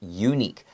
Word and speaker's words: unique: to look out for even though u is a vowel the way that we pronounce this word it sounds like it starts with a y okay a unique okay